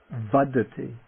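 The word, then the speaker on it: vaḍḍhi: Vadi vadi vadi first the non-aspirate vad followed by the aspirate dy vi or the noun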